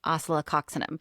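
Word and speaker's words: Oscillococcinum: It's pronounced oceloxinum.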